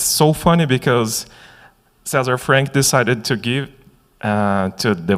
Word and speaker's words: César Franck: So, César Franck, or César Franck in English pronunciation, is a composer, a French.